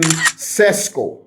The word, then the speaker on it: Šeško: the transfer headlines, Benjamin Sesko, or Šeško. I heard that's how you pronounce it, Šeško.